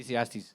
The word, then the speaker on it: Ecclesiastes: written two epigraphs, one from the Bible from Ekest, I cannot pronounce it properly. Ecclesiastes.